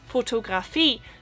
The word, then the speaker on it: Fotografie: So I remember in school that I always found photography hard, because in German it's Fotografie, so it's the emphasis on the last syllable, but in English it's photography, so it's on the O, so there's just the flow of the word is different.